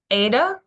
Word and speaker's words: eta: tail underneath the line Ada is a long a sound capital letter is an